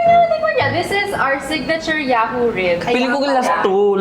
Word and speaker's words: Yahu: madam yaho Bakit may exclamation Oo paano ba pronunciation yan pala namang Yahoo Yahoo ganon the thought kasi is sa sobrang sarap